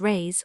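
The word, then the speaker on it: réis: The Portuguese pennies or rise pronounced rays are prodigious.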